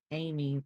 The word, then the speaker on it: Amy: Oh, my name is pronounced Amy, like, oh, Jamie without the J.